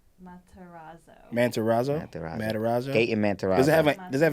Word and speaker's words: Matarazzo: Can you Google how to pronounce it? I just feel bad. I don't want to disrespect. Is it Mantazaro? Yeah. Gayton is the first name. Matarazzo.